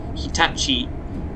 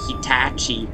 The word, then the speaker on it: Hitachi: built by Hitachi yes that's how it's pronounced in Japan Hitachi and not Hitachi or something like that